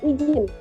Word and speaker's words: izin: Nah, di dalam kesalahan pelafalan ini terdapat pada kata izin. Pelafalan salah karena pengubahan lafal huruf yang seharusnya melafalkan dengan posisi ucap huruf Z, tetapi dilafalkan dengan posisi ucap huruf J.